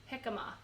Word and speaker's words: jicama: was chutney I think it was so beautiful jicama that's how you pronounce that oh yeah you know now when